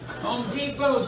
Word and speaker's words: Depot: Home Depot's got a T in it, you don't even pronounce it.